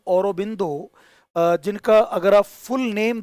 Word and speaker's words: Aurobindo: जो श्री औरोबिंदो हैं, इनको ये बंगाली प्रोनाउंसिएशन है श्री औरोबिंदो।